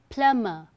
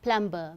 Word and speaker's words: plumber: Okay, the correct pronunciation is plumber, not plumber. B is silent here.